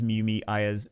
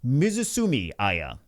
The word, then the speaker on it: Mizumi Ya: If this skill has no cooldown, increases Mumi A's turn meter by 80%. I said that her name wrong. Mizumi Ya, that is the correct way to say it.